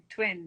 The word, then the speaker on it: TWN: Twin. Yeah. So it'd be pronounced Ah, twin.